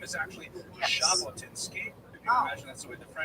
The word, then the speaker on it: Jabotinsky: Jabotinsky. You Oh. can imagine that's the way the French would spell it Okay, with the J as your well.